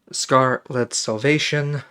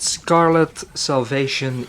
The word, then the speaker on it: Scar-Lead Salvation: But anyway, I got Scarlet Salvation, pronouncing it weird because it says Scar-Led instead of Scarlet, from a publisher called ID Factory International through Keymailer.